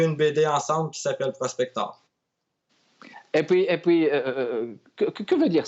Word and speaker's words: Prospector: Alors, le tout a commencé, comme je l'ai mentionné au début, avec la BD indépendante Prospector ou Prospector, puisqu'on le prononce avec l'accent anglais là.